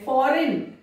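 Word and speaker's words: foreign: फॉरेन, एन के पहले जी आया, जी साइलेंट है।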